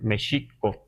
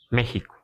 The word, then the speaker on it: México: que para el NWAR esta X le damos un valor de sh. Por eso entonces debemos decir mexico todavía y eso lo podemos este constatar todavía en algunos pueblos, pero ya el grueso de la población castellanizada hablando español dice México, ¿verdad?